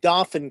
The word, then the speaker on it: Dauphin: um which is in dauphin county i know the french pronunciation is the dauphine it's the king but but here we say dauphin and then he begins